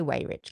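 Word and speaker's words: Weyrich: We'll say way rich cuz we'll do it phonetically. It looks like way rich unless you're German in this English case it's ve but let's not go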